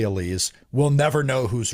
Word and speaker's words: Alize: Nixon Newell, Miranda Alise, or Elise as it's pronounced correctly.